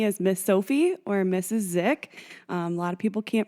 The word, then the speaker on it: Dzik: Dzik. A lot of people can't pronounce my last name. So if you ever need a clue, it's just the D is silent.